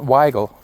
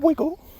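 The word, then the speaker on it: Wygal: And they have one album, and their lead singer, Janet Weigel, not Wiggle. I guess you could pronounce it Wiggle. I guess you would have to ask her.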